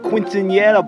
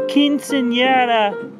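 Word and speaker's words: quinceañera: said up at that quincenera balloon the last time you felt this way I believe that it's pronounced quinceanera yeah man that was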